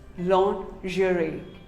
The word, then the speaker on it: lingerie: mispronounced word lingerie well most of us call it lingerie no it is not lingerie it is actually called lingerie say lingerie long jury what do you call